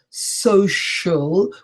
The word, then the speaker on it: social: have science society association but we have social which is a shirt sound and absolutely not a church sounds below though we